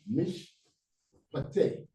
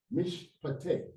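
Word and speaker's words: mishpat: So we don't say ma here, we say mish mish. So these they are joined together. Mish mish. Then you pick up the syllable again. Pate. Mish. So that's a closed syllable. And that's two consecutive right here together. So the first one joins with this letter here to close this syllable. Mish pate. Mish pate.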